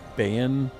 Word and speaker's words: Bayan: So you might have already gotten to this Bayan. That's how you pronounce it.